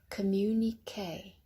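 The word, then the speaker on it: communiqué: Communique. Yes, that's a strange ending. It's French. Communique.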